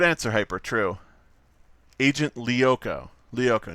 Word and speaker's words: Lyoko: Lyoko. Not Lyoko. Like... Not like liar, like I was pronouncing it, which is probably highly offensive. But like Lyoko.